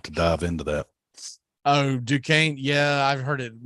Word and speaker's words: Duquesne: I definitely added a syllable and had that mispronounced, so I'm glad I didn't embarrass myself.